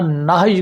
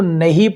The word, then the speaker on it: نہی: غلط ہے، اس طرح نہی کو نہیں پڑھنا غلط ہے۔ ویسے غلط العام ہو چکا ہے، لوگ اکثر دیکھنے میں آیا ہے کہ اس کو نہیں ہی پڑھتے ہیں۔ تو خیر، اس کا اصل تلفظ نہی ہے۔ جو کرے ایک کام